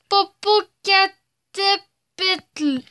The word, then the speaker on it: Popocatépetl: Je vais essayer de le prononcer. Popocatépetl.